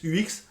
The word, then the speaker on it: UX: Je vous conseille de dire toujours UX UX UX à la française. Euh, soyons chauvin, soyons français.